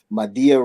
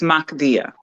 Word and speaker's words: Mahdia: Did I say it wrong? A little bit, but it's okay. So I've heard worse. It's Mahdia. Wait, so Mahdia. Say it again. It's Mahdia. Mahdia.